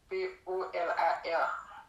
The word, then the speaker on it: Polar: P-O-L-A-R. Ok, Polar. Ou pas prononcer R là, c'est Polar.